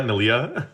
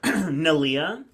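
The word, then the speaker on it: Neleh: Wait, how do you pronounce it? Isn't Nia Nalia? Nalia.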